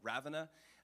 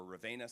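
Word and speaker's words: Ravenna: a city in Italy called ravana or Ravena sometimes pronounced up to the north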